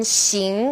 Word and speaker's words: xing: Now X as in xing or xie. Now this sound is somewhere in the middle of SH and S.